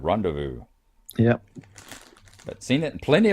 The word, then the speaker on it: rendezvous: tell me it's pronounced rendezvous it's a French word rendezvous yep seen it in